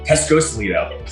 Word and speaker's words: Pescosolido: Today I have with me the husband and wife powerhouse behind the Lido agency, Michelle and Bill Pescosolido. Did I pronounce that right? Kind of. Pescosolido. Cosolido.